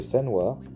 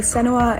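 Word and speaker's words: Senua: you're wearing headphones the main character Sena uh I think that's how you pronounce her name wait let me check and I play senoa and senoa Saga too right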